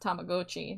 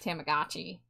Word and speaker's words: Tamagotchi: I learned recently it's pronounced Tamagotchi, not Tamagotchi. But, uh, It's free. Goi. Tamagotchi. Like Tamago. Yeah. And then Gochi.